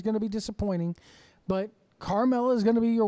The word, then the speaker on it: Carmella: God damn it, I love Carmella. Rhymes with caramel. Anyway. The gif of him in the chair going crazy with the smile. He's looking at Carmella running down the ramp.